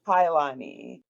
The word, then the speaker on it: Kauilani: when my dad saw the name, he switched the I and the U. So now it's a whole bunch of vowels. Everybody's just like, "Well, how do I pronounce that?" Yes. It's Kailani.